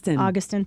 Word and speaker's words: Augustin: Augustin, thank you. I knew I was going to get my syllables wrong on that.